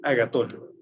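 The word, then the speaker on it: ἀγαθόν: Eis agatón. Eis es E-I-S. Y agatón lleva acento en la O.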